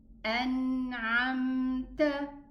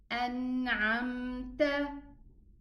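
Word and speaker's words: أنعمت: So this Mim is Izhar. I'm going to pronounce it. So we say An'amta, An'amta.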